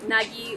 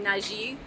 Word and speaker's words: Nagy: Donc, par exemple, je me suis présentée avec le nom Nagy ou Nagy ou. Et c'est parce que chaque personne dans ma famille a adopté une différente prononciation qui est, si je veux m'identifier plus avec mon père ou avec ma mère ou avec ma grand-mère, je dois adapter leur mode de parler.